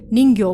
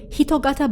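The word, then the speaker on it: 人形: shaped objects so apparently in japanese it's not read as jinke butai or ningyo bhuttai the correct reading of the term is hitogata bhuttai but we just called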